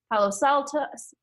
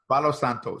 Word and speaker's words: Palo Santo: you're at it get yourself some of the hollow Psaltis no how do you say it Palo Santo Thank You Santo yes and like Daniel said